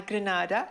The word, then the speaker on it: Granada: espanol can you just give us the correct pronunciation a grenada tickets available at copy ticket and our box